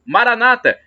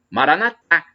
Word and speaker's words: Maranata: de Jesus eu clamo Maranata como dizes protestantes evangélicos com a tônica na penúltima sílaba ou então Maranata como dizemos nós católicos com a tônica na última sílaba não importa é porque